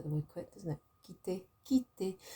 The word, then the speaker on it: quitter: Quitter, quitter. So a Q and a U is a que in French.